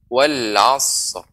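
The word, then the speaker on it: العصر: Maka shad bukan huruf qalqalah, maka tidak boleh langsung disambung wal'asr. Tidak boleh, akan tapi berikan shad ya haknya, baru kita tambahkan ra di ujungnya. Seperti pengucapan wal'asr.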